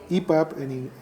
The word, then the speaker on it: EPUB: No, el libro electrónico actualmente, desde hace muchos años, es un libro que podemos denominar EPUB en español, EPUB, digamos con la terminación en inglés o con la pronunciación en inglés.